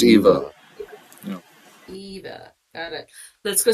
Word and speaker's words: Eva: go see Madame an am I saying it right aniva Eva EV V A Eva Eva Eva think it's Eva Eva got it let's